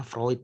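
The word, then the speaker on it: Freud: selalu pak Santoso psikoanalisis Sigmund proid jadi bacanya Fruit itu Minggu lalu saya salah baca bapaknya psikoanalisis itu Sigmund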